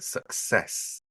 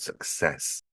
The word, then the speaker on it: success: a lot is success I often find that many Learners put the stress on the wrong side of that word success um second syllable for the word stress on that word success again in the first